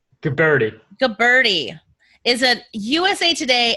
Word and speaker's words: Guberti: Guberti.